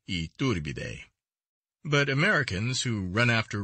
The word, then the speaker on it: Iturbide: if they are not superior to the iturbide pronounced iturbide but americans who run after royalty want to